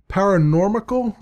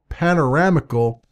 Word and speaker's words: Panoramical: See, I'm pronouncing it wrong. It's panoramical. Sorry, not paranormical.